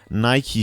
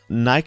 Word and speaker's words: Nike: wear a lot of Nike shoes or Nike shoes or Nike shoes um depending on which part of the world you come from or want to pronounce a word and I know that